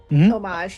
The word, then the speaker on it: homage: Like, Homage, yeah.